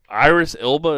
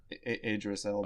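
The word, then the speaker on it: Idris Elba: And Iris Ela, is that how you say his name? Idris Ela.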